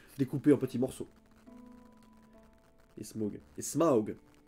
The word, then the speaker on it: Smaug: Et Smaug. pas que j'oublie de prononcer le U comme il faut.